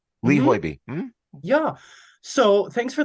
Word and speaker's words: Hoiby: So what is the driving force in picking this particular opera by Lee Hoiby, I believe it's pronounced? Hoiby. Lee Hoiby.